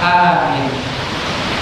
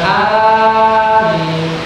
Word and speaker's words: amin: Dan ketika dibacakan Al-Fatihah ini, maka disunahkan untuk membaca amin, membaca amin. Ada dua rakaat, minnya itu yang baca dengan amin. Bacanya amin. Minnya yang lebih panjang daripada A-nya. Amin.